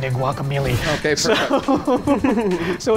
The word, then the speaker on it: Guacamelee: Okay, this is well, okay, the actual pronunciation is supposed to be Guacamelee, Okay. but I'm going to pronounce it Guacamelee because I spent many years playing Dungeons and Dragons without anybody actually telling me that melee was pronounced melee, so I'm just going to keep pronouncing it melee.